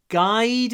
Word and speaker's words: guide: Произношение г. Мы начинаем от га, guide. Но много должно быть не просто guide, а guide. Как будто 3-4 краткое, не знаю.